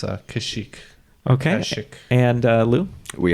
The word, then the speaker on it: Kashyyyk: Yeah, I believe in the native language it's pronounced but in common tongue it's Kashyyyk.